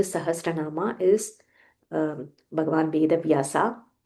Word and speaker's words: वेदव्यासो: सहस्रस्य वेदव्यासो महा मुनिह सो व्हनेवर there is a half letter make sure you pronounce it properly without skipping it for example here ऋषिर नाम there is a half म नाम सहस्रस्य half स सहस्रस्य वेदभ्यासो there is a half व वेदभ्यासो महामुनि मुनि that is